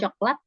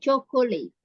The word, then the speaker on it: chocolate: ya stop dulu ya Jadi ini bacanya bukan cokelat tapi chocolate chocolate they make chocolate cakes